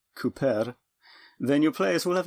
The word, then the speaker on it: Kuper: But if you don't spell it like the English word for someone who makes barrels, but rather Kuper, and pronounce it accordingly, Cooper, then your players will